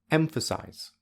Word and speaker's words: emphasize: example the word emphasize the first syllable has primary stress because it is the loudest the highest and the longest the second syllable has zero stress because it is the least loud the least High and the least long or in other words it is quiet low and short finally the third syllable